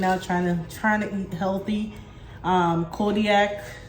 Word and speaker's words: Kodiak: So if you haven't tried these and you're maybe working out, trying to eat healthy, Kodiak, is that how you say it? Yeah.